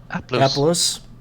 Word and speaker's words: Aplos: Am I pronouncing it right? Yep. Aplos.